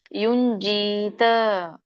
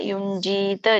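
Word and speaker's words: ಯುಂಜೀತ: ಪರಿಗ್ರಹ ಇದು ನಿಮಗೆ ಸರಳವಾಗಿದೆ ಯೋಗಿ ಯುಂಜಿತ ಅನುಸ್ವಾರ ಇದೆ ಯುಂಜಿತ ಜಿಕೆ ದೀರ್ಘ ಇದೆ ಯುಂಜಿತ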